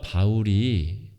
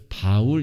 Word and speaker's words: 바울: 이름입니다 철수 0 이처럼 똑같은 이름이 히브리 식으로는 4월 이라고 발음을 하고요 헬라어로 는 그 같은 단어를 바울 이라고 발음하는 겁니다 같은 사람인 것이죠